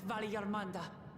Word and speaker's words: Valigarmanda: I will stay and fight Valigarmanda. Oh, it's a soft G.